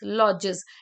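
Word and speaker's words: lodges: we pronounce it beavers beavers animals होते हैं लॉजेस एल ओ डी जी ई एस लॉजेस यहां पे डी थोड़ा साइलेंट रहता है एल ओ डी जी ई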